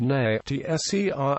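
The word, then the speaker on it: נצר: Netser, pronounced na-tser, meaning branch, flower, or offshoot.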